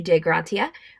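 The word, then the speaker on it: Dei Gratia: brigantine, the De Gratia, which I think that's how you pronounce it. It says to use the Latin pronunciation. Sure. A Captain Morehouse was the captain of the De Gratia on the day on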